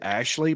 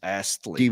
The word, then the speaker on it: Astley: I say Ashley, but I just read it's Astley.